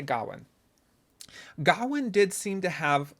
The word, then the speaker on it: Gawain: It's the subtitles said Gawain, but it seemed like they were putting an R in there, like Garwin, when they were actually saying it. I'm going to say Gawain.